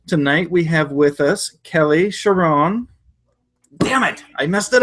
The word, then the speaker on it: Charron: All right, and Kelly Charron. Sharon. It's all good. Charron? Like People say Sharon? it the French way. I just prefer it Sharon, like more.